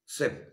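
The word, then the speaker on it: chef: আমি তোমাকে একটা বলবো, একটা আমি উদাহরণ দিচ্ছি, সিএইচ ই এফ কি উচ্চারণটা হয়, রাঁধুনি যাকে বলে সেফ, তাহলে সিএইচ এর উচ্চারণটা এখানে কি হচ্ছে, সহজ, রাইট।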